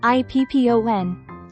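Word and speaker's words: 一本: Remove chi from ichi, leaving just I. Then, add PPON after it, making it IPPON.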